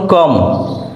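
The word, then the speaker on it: comb: word নিয়ে কথা বলব বি এর উচ্চারণ যখন সাইলেন্ট যেমন কম সি ও এম বি কম কম অর্থ চিরুনি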